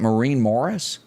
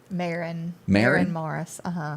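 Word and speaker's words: Maren Morris: Do you pronounce that Maureen Morris? Marin Morris.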